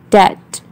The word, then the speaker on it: debt: For example, if B is silent, so how we pronounce these words? Bomb, climb, calm, debt, doubt, dumb, lamb, and etc.